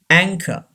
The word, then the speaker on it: anchor: almond almond number six anchor anchor CH gives the sound of K curve and R is not pronounced anchor anchor don't say anchor a